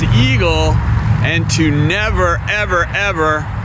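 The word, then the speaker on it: EGLE: But we've been talking to the governor and telling her, you know, you said that everybody should pronounce the acronym for the Environmental Great Lakes and Energy Department as EAGLE, and to never, ever, ever impact any eagles.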